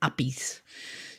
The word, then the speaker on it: API: platforms yeah and well some people even call them appies just instead of having to spell it out but yeah it's usually